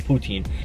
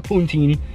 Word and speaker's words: poutine: in canada that is called a poutine not a puntine some people called it a puntine and i'm like that's not it that's you're saying it wrong why are you saying it like that but anyways i am